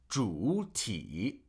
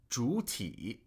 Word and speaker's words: 主体: For example, this word, 主体, if I had to pronounce both third tones completely, I would have to say 主体, which is more work than 主体, right? Because as the third tone falls, it then rises.